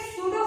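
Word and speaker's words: pseudo: तो बेटा एक सूडो force, P silent, सूडो force जो होता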